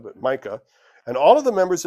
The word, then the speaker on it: Micah: Could be pronounced Mikah, but Micah.